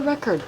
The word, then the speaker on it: record: E o D na palavra record é bem sutil, quase não é ouvido, né?